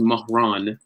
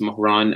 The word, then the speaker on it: Mahran: So my name is Mahran. That's how it's pronounced. Mahran.